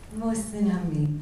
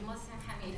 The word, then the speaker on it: Mohsin Hamid: You know how to pronounce this author's name much better than I do. Is Mohsin Hamid? Mohsin Hamid. Thank you, Mohsin Hamid.